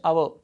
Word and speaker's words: hour: So this word, this word has one silent letter. H is here silent letter. We should not pronounce hour. So we have to delete this H. We should not pronounce it R. So it's giving vowel sound.